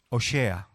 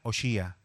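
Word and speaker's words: הושע: el nombre en castellano se parece muchísimo al nombre hebreo en hebreo es oshea hay quien lo pronuncia oshia Qué significa oshea de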